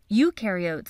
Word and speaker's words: eukaryote: Eukaryotes, on the other hand, remember eu rhymes with do, and they do have a nucleus, and other membrane-bound organelles.